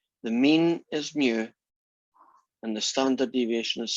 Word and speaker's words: mu: population and it has a mean it's called mu and a population can have a standard deviation